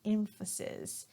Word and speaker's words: emphasis: We're going to start off with emphasize and emphasis. So here the verb is pronounced emphasize.